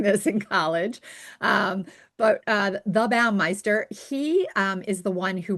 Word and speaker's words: Baumeister: There's a psychologist called Roy and I always want to say his name the right the wrong way, Melinda. Baumeister, right?